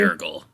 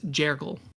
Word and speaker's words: Yurgle: I just looked up a pronunciation guide on it. It is Jergle.